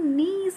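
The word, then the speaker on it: Nils: ये जो वर्ड, ये जो नाम है, ये स्वीडिश नेम है, एंड इसमें जो है एल जो है वो साइलेंट है, तो नीस ऑलिव कहेंगे.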